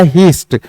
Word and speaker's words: heist: हाइस्ट भी पढ़ते हैं इसको, हाइस्ट या हीस्ट।